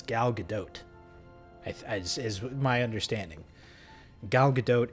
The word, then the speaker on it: Gal Gadot: But apparently she's Israeli, so you do pronounce a T. So it's Gal Gadot, is my understanding.